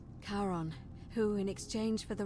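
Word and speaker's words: Charon: it only your pronunciationism it was c h a r o n as in Caron the ferryman of the Dead karon who in exchange for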